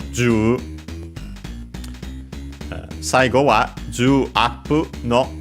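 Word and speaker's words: 十: We have the 10, most likely in this case pronounced with the Chinese reading, as it's the most common one in such a situation. So, ju, saigo wa ju appu no daichansu.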